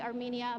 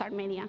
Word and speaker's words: Armenia: small town in Colombia that's called Armenia, like the country Armenia, but in Spanish it's Armenia.